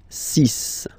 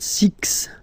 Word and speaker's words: six: Six, six. Okay, so it's not six, it's six, all right?